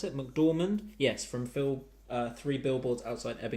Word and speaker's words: McDormand: Is that how you pronounce it? McDormand?